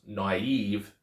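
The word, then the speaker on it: naïve: two dots show that it's meant to be pronounce naive not n okay now modern Greek and Co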